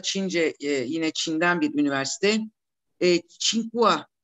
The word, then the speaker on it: Tsinghua: Tsinghua diye telaffuz edilen, Tsinghua diye yazılan iki üniversite var.